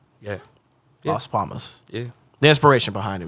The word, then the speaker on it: Las Palmas: Las Palmas.